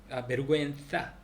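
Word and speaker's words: vergüenza: 근데 베르구엔자는 베르구엔사 ZA니까 베르구엔사는 창피인데 구엔사 할 때 이게 DLSS가 있으니까 베르구엔사 그렇게 하면 되고 링구이스티카 언어학.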